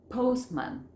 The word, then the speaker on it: postman: Entonces, ¿cuál era la que no se pronunciaba? La del medio. Postman. Fíjense que yo no digo postman, digo postman, right?